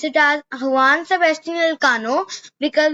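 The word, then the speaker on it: Juan Sebastián Elcano: After this, Magellan's deputy, means his partner, Juan Sebastian Elcano, but we will pronounce it as Juan Sebastian Elcano because we pronounce it like this in Spanish.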